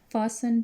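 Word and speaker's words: fasten: फासन टू a small wooden box. फासन का मतलब है बांधा हुआ होना. इसमें टी साइलेंट है.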